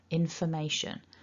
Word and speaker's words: information: remember from the script that first o is actually a schwa sound so what we don't want to do is over pronounce it and say for it's too big remember information so try not to